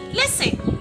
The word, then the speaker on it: listen: We say letter T is silent in the word listen. Listen.